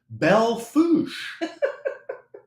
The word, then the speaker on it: Belle Fourche: Belle Fourche is the name of the town, pronounced Belle Fourche. Well, it's spelled BellefouRche.